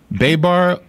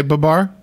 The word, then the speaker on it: Babar: Babar, Babar, Babar. Babar. You say Babar?